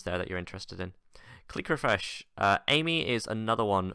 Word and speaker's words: Clique: I know it's pronounced click, but it's like click, like clique, like with a Q, like friendship group.